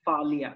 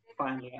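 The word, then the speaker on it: Faalia: Can you please pronounce your name so that I can pronounce it correctly? While it's Falia, correct? Correct. Falia, okay.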